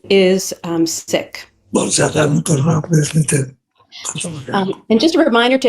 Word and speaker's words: Sikh: you may hear people use the word sick pronounced as seek or as sick and both are acceptable although the correct pronunciation is sick and just a reminder to everybody to just